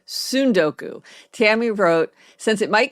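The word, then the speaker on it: tsundoku: a summer of sundoku, the first syllable doesn't rhyme with sun. It rhymes with soon.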